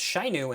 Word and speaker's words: Shinu: Ozai tells Azula to notify Colonel Shinu to mobilize the archers, but this admiral's name is pronounced Shainu in the cartoon.